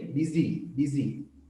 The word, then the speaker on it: busy: එක දිගටම කියන්න අන්ට z s එක z වගේ තමයි ප්‍රොනවුන්ස් කරන්නේ busy නෙමෙයි busy හරි.